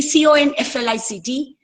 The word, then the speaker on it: conflict: For example, see, CONFLICT can be a noun, can be a verb. You can, if it is a noun, you say conflict.